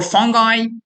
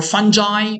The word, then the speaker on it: fungi: For fungi or fungi, both pronunciations are correct.